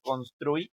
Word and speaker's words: construir: Ahora, ¿dónde estaría la sílaba más fuerte? Ajá, o sea, en la trui, ¿no? La última. En la sílaba trui está el sonido más fuerte. O sea, que es una palabra que aguda, ¿no?